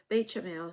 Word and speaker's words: béchamel: Bechamel.